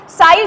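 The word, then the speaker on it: ψ: साई जो वहाँ पे आपको दिख रहा है दिस इज साई, ठीक है, इसको प्रोनाउंस करते हैं साई एंड इट इज the wave function, ठीक है।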